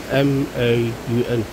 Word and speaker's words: Maun: I think M-A-U-N. Maun. That's how you pronounce it, I think.